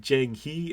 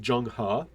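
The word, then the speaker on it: Zheng He: E A lot of times in Chinese are pronounced like an A so it's not Jang he it's Jung ha I call this China's first missed opportunity to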